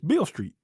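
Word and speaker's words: Beale Street: Why do you want to hear me pronounce Bill? It's Bill Street.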